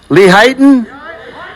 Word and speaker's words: Lehighton: How do you say the name of this town? No, not this town, the other one. Lehighton? It sounds like a Jerry Lewis. Lehighton, hey.